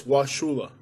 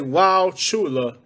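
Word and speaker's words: Wauchula: here with this one the u is silent it's washulah so you say wow shula they know you're a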